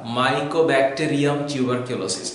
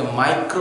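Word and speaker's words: Mycobacterium tuberculosis: যক্ষা, মাইকোব্যাকটেরিয়াম টিউবারকিউলোসিস, এটা অনেকে মাইক্রো উচ্চারণ করে, উচ্চারণটা না কিন্তু, এটা মাইকো মাইকো ব্যাকটেরিয়াম টিউবারকিউলোসিস, এই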